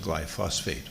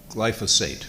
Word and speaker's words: glyphosate: My understanding is that glyphosate, I always want to pronounce it glyphosate, but it's glyphosate, right?